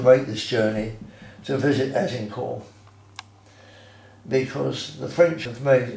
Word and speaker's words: Azincourt: Interestingly, those people who have had the good fortune of going to Azincourt, not Agincourt, it's spelt with the G is replaced with a Z, in France, which is not so very far away from Calais.